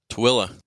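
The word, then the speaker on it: Tooele: went off to the Utah how do you pronounce that toilla toilla toilla toilla Utah which is not exactly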